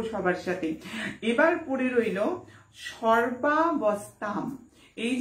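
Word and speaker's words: সর্বাবস্থাম্: উনস্বর যদি থাকে শব্দের শেষে, সংস্কৃত বলছে, সংস্কৃত শাস্ত্র বলছে সেখানে কিন্তু উচ্চারণ হবে ময়ের, তাহলে কি হবে সর্বাবস্থাম।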